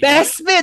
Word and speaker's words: Bespin: Bespin, that's how you pronounce it.